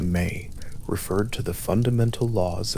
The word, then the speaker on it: me: The mi pronounced something close to may referred to the fundamental laws and institutions of civilized existence.